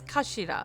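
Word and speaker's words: 頭: It's written as head in Japanese, but it's pronounced as kashira, I believe.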